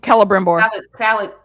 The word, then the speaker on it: Celebrimbor: Celebrimbor. See? Yeah. Celebrimbor. She saw that she saw that meeting happening. Was going to see him. Yeah, that he was gonna, and didn't look good for Celebrimbor at the end of that vision, but I